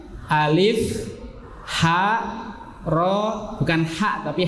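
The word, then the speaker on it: ألف: Tapi bacanya alif, ha, ro, bukan ha, tapi ha, alif, ha, ro, sin, sod, to, ain, qaf, kaf, lam, mim, nun, ha, ya.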